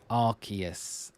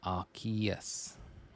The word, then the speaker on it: Arceus: yeah uh Arceus Arceus because it's like I think a good way that I remember it is when we got the arc phone in um Legends Arceus uh Pokemon Legends Arceus you can't call it the ass phone it has to be the arc form right so it has to then be Arceus and not Arceus so that's a good